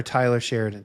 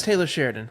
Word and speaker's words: Taylor Sheridan: that show and and is it Taylor or Tyler Sheridan Tyler have I've been have I been saying his name wrong this whole time oh no I I I think it's Taylor Sheridan I I is it